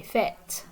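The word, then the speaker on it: fête: i prefer parties and notice the little hat accent mark here and this would be the axons your conflicts and this is like um it basically sounds like the e in bed that's self-explanatory fair they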